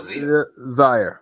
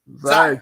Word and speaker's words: Zia: Is it pronounced Zaya or Zia? Zaya Cook. Zaya Cook.